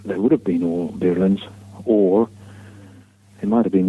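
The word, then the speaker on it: birlinn: So these galleys, they call them birlins, which is spelled B-I-R-L-I-N-N, birlin.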